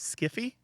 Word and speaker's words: sci-fi: we do and that's that's because it was modeled on hi-fi they intentionally coined it